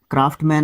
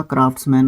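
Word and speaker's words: craftsman: एंड क्राफ्ट्समैन क्राफ्टमैन नहीं होता। क्राफ्ट्समैन होता है।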